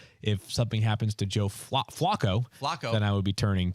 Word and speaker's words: Flacco: So if something happens to Joe Flacco, then I would be turning to Ryan Tannehill. I think you're using the Baltimore pronunciation when you say that, right? Yes, it's like a flock of ravens.